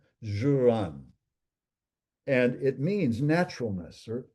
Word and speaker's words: Ziran: There's another word that I honestly have not heard Master Shaw use, but it's pronounced Z, I mean, it's spelled Ziran, Juran.